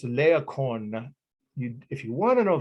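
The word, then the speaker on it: Laocoön: tell you the name of it uh it's leokon if you want to know the name i'll spell it but you don't have to write this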